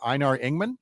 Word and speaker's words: Einar Ingman: And you've got a particular anniversary this week for Einar Ingman.